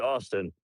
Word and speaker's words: Austin: It's pronounced Austin. I just spelled it weird. You know, hear me? The V is supposed to be a U.